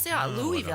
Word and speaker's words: Louisville: from people down there it's not Louisville it's Louisville see I Louisville I thought it sound I mean it spelled like it